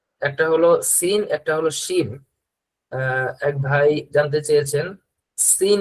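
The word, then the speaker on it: ش: এটা হলো সিন আর শিন, দুইটার উচ্চারণ দুই রকম।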